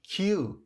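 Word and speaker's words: queue: پیراهن او اشاره کردند این کلمه رو فقط کیو تلفظ میکنیم کیو به همین راحتی به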